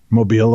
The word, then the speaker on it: Mobile: e I told you Mobile Alabama There's no there's no e in there it's it doesn't need to be I'm telling you it's Mobile Alabama I I have family